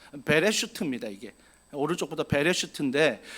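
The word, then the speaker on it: בראשית: 히브리어 읽으면요, 오른쪽부터 읽으면 베레슈트라고 읽습니다. 베레슈트입니다.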